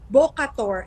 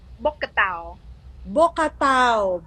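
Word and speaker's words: Bokator: you also studied what is this called, the Bocator, is that correct? Bocator. Bocatao. Bocator, how do you say that? So for foreigners, they have a hard time pronouncing it. Actually, it's called Bocatao.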